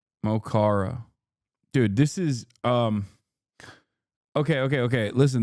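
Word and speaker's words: Mo Chara: Mohara is how you pronounce it. Mochara.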